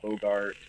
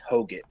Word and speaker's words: Hoggett: A lot of people will throw R's in it and say Hogart, or N's in it and say Hogan, or Hoggett. But it's pronounced Hoggett.